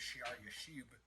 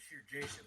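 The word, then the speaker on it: Shear-jashub: His name pronounced in Hebrew or whatever is Shiar Yashub instead of Shir Jashub, which I've been saying.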